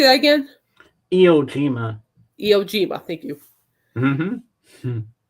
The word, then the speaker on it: Iwo Jima: Iwo Jima.